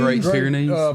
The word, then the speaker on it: Great Pyrenees: Great Pyrenees.